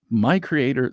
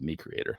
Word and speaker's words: MiCreator: and they have a new product called the my Creator Studio I almost said me Creator so it's spilled with an M an MI